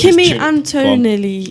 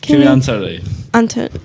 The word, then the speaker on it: Kimi Antonelli: On Carlos Sainz, though, I've just found he wears Kimi Antonelli. I've butchered that. Kimi Antonelli.